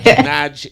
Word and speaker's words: Nadg: But look at me, not so bright, How you pronounce him name? Nadg. Yes, you get it. That is man. It. Nadg is the coolest youth.